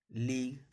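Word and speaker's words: league: जैसे यहाँ पे देखिए टी ओ एन जी यू ई है, तो यहाँ जी के बाद यू ई है, यानी जी यू ई साथ में है तो यहाँ पे यू का उच्चारण नहीं करेंगे। अगला वर्ड देखते हैं पी एल ए जी यू ई, तो जी यू ई साथ में है तो यू का उच्चारण नहीं करेंगे। इसको पढ़ा जाता है टंग, प्लेग, लीग।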